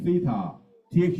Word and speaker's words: theta: 呢個字咧讀音係 theta，th 音嚟 㗎 ，theta，OK，th 咗 theta。